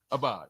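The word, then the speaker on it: אבד: Sounds a lot like abad is that's spelled with the iron, right? The word for servant, but this is a different word. It's spelled with an olive, and it's abad.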